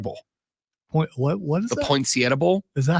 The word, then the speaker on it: Poinsettia Bowl: That's how I've heard it said, without the accent. Poinsettia, not the Sietta thing.